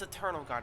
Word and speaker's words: Eternal Guard: guard internal is it it's Eternal guard I've been saying it wrong this entire time uh Eternal guard have